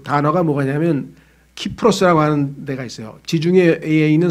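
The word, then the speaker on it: Cyprus: 섬을 뭐라고 얘기 하냐면 사이프러스 라고도 해요 사이프레스 분쟁 이렇게 왜 영어식으로 바라보면 cs 로 발음 하니까 그런데 걸을 그리스어 식으로 바른 키프로스 가네요 그래서요 단어가 시 자하라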